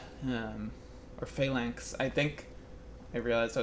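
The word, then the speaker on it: Phalanx: archers that is likely Fallon axe um or failance. I think I realized I was pronouncing it the whole wrong the wrong the whole time. I think it's fail failank.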